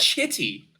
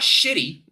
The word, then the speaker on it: Chitty: Chitty. That's a CH, dude. Chitty. Not shitty.